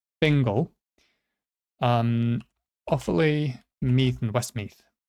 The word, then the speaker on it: Fingal: Fingal, not fungal, Fingal.